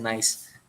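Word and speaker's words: gneiss: yang keempat ada genesik Harusnya dibacanya naisik ya Jadi kalau kita eh cari referensi namanya genis ya tapi bukan genis dibacanya bahasa Indonesianya genis tapi bahasa Inggrisnya nice ya ini dibacanya pun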